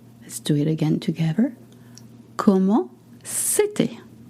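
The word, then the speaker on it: c'était: You notice that city is spelled C apostrophe E with an accent T I T A I T. Again, please go to the website to see the exact spelling. We don't say set.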